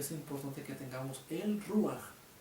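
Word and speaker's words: רוח: recio Resulta ser que la palabra viento en el hebreo se pronuncia como rúa Este término rúa es lo que también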